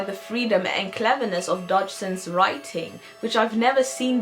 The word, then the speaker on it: Dodgson: When speaking, Charles stuttered, so sometimes he would pronounce his last name as Dodgson, as in dodo.